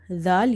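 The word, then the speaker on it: ذ: Zal should be pronounced from the tip of your tongue that touches the inner edges of your top two front teeth.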